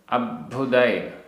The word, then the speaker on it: अब्भुदय: गाथा क्रमांक 126 उच्चारण तित्थयर आधा त थ तित्थयर गणराय गणराय अब्भुदय तित्थयर गणराय तित्थयर गणराय अब्भुदय आधा ब भ अभुदय परंपरायम अभुदय परंपरायम सुखखाय